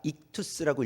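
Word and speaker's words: ΙΧΘΥΣ: 자, 이게 이제 그 헬라어로 그 안에 있는 글씨가 익투스라고 읽어요.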